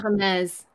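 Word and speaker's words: Hermès: How do we pronounce, is it Hermes? Hermes.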